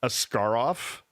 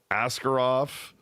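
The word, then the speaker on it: Askarov: thing is that I've heard his name pronounced like three. I've heard Ascarov, Ascarov, uh what was the other one I heard?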